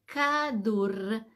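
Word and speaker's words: כדור: No es cierto Cómo se dice se dice cadur cadur cómo se escribe k de kilo a d de dedo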